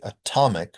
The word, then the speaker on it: atomic: You have to say atomic with a T.